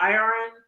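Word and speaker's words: Irion: Iron.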